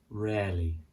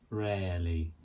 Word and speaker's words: rarely: Rarely. Rarely. Like the word air you breathe. Rarely. So we don't say that rarely. We don't say the second R, it's just rarely.